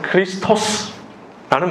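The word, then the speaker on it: Χριστός: 여러분 그리스도란 헬라어로 정확하게 발음하면 크리스토스라는 말입니다.이 이 크리스토스를 히브리어로 번역하면 메시아 좀 더 정확하게 바람하면 마크가 되죠.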